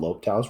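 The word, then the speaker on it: L'Hôpital: the answer okay and it's called lopetals rule sometimes they spell it like this low hospital uh so there's like an s in there i don't know so this also works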